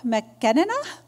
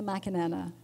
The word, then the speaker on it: McAnena: Well, so here we are with our Working with Governing Bodies of Sport panel, and I'm excited to introduce McAnena from, no, I didn't say it right.